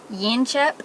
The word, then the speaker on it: Yanchep: of here to the yanchep or yin chip as the australian guy tried to teach me how to say it yanshap national park where there